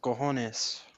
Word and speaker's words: cojones: I'm Spanish, and I believe the proper pronounce it is cojones.